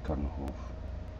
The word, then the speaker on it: Chernohov: That's the real pronunciation version, Chernohov.